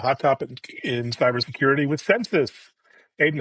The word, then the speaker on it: Censys: Censys is the census of the internet. So census spelled with a Y.